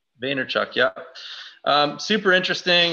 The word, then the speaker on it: Vaynerchuk: pronounced his name wrong today how do you pronounce a java Vaynerchuk Vaynerchuk yeah super interesting it's got some really interesting